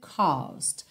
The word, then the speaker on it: caused: Hurt you caused. Caused. Essa primeira parte da palavra, essa primeira sílaba, é mais comprida. Caused. Caused. Ok? O E não é pronunciado. Então você não vai falar caused.